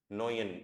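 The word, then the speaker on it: neun: 9 के लिए हमको यूज, 9 के लिए यूज करना है हमको नोयन, ईयू का साउंड क्या होता है, ओए, तो this will be नोयन, नोयन।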